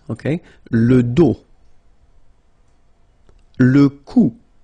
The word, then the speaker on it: dos: Le dos, final S not pronounced, okay? Le dos.